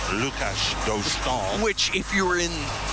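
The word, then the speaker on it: Dostál: And they've changed the pronunciation, is that right? Well, they're going with the more Americanized version. I know the Anaheim broadcasters go with Dostal. Lucas. Right. Yeah. As opposed to Lukáš Dostal.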